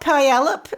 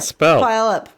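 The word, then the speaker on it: Puyallup: It's not palop. And it's not palop. It's something like palip.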